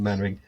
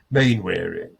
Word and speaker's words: Mainwaring: This is a man who would say Don Juan and Don Quixote out of sheer body-mindedness, and he always called Mannering Mainwaring.